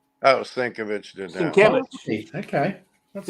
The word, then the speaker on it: Sienkiewicz: Bill Sinkovich. Oh, Sinkovich did that. Sienkiewicz. Okay. That's It's nice.